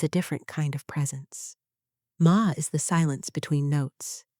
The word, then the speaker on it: ma: Ma, pronounced ma is the intentional empty space in Japanese aesthetics.